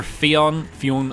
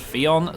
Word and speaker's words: Fionn: Well, it is either Fionn, or Finn, depends on which part of Ireland you're from in terms of pronunciation, but I went to school with a guy who was called Fionn, so that's how I'm going to say it.